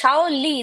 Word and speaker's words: Shaoli: It's written Shawnil. No, Shao. it's Shaoli. The N is silent. So the N is Oh, for the Chandrabindu. So oh, it's Shauli. Shaoli.